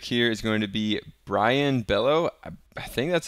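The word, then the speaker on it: Brayan: is going to be Brian Bello I think that's how you pronounce that name just like a regular Brian but anyway we're gonna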